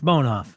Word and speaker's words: Bonhoff: bonhoff is b a he complimented me for pronouncing his name right it's Bonoff all right it's Bonoff